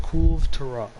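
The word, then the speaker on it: Kulve Taroth: and the Monster Hunter the literal Monster Hunter community manager, the Monster Hunter World community manager, has specified that it is Cool of Taroth.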